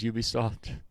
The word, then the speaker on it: Ubisoft: and have an accent, everybody at the company that presents says Ubisoft. So I don't know where people came up with the fact that they know how to say it better.